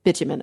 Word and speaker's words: bitumen: I think it's pronounced bitumen, yeah. Bitumen, okay, yeah.